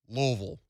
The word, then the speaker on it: Louisville: No, Ville is VUHL around here. Louisville.